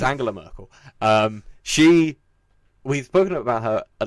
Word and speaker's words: Angela Merkel: I don't know if it's a hard G. It's definitely a hard G. Okay. It's Angela Merkel.